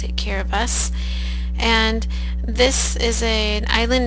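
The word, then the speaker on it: Kiribati: to speak is a a island country called kabas it's spelled kabati but the locals pronounce it kabas and this is a island nation in the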